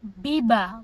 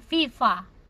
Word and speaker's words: viva: Misalnya kayak kalau Meksiko V itu kan dibacanya V, kalau di sini di Spanyol itu bacanya B, jadi biba bukan viva.